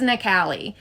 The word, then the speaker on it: Nikale: People keep calling you Natalie. It's Nali.